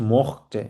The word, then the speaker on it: mochte: আর আরেকটা হচ্ছে ইস মখতে, আমি চেয়েছিলাম।